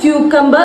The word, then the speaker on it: cucumber: എന്ന് പറഞ്ഞാൽ ചേട്ടന് മനസ്സിലാവില്ല അപ്പോ നമ്മൾ കുക്കുംബർ എന്ന് പറയു നമ്മൾ ശീലിച്ചു വന്നത് അതുകൊണ്ടാ അതായിരിക്കാം അപ്പോ അത് പറയാം പക്ഷേ ഇതിന് ശരിയായിട്ടുള്ള ഉച്ചാരണം ക്യൂ കമ്പ് എന്ന് തന്നെയാണ് ഇതിൽ ഞാൻ കണ്ടിരിക്കുന്ന ഒരു